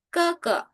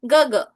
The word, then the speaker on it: gege: Jadi G kita bacanya K. Contohnya ada di ke ke. Ke ke artinya kakak laki-laki. Jadi bukan bacanya gegee. Gege itu salah. Kita bacanya jadi ka.